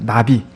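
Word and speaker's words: נביא: 예언자 라고 하는 단어는 히브리어로 나비 라고 하는 다릅니다 나비 날아다니는 나비가 아니고 발음이 그렇습니다 나비 그런데 이 마비 라는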